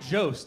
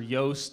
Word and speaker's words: Jost: Even my last name, Jost, it's weird. Jost, J-O-S-T, people pronounce it Jost or Yost or Joust.